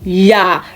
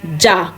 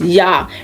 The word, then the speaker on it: ja: We say ja, not ja. It is ja. Remember, J usually sounds Y in words.